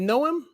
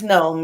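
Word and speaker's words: Noem: um so is it is it know him is that how you pronounce her name secretary governor of i don't know is there an eye on the end or not it's just in oem i believe then it's gnome yeah yeah and um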